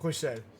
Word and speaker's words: Bruxelles: I don't know how you pronounce it. Bruxelles.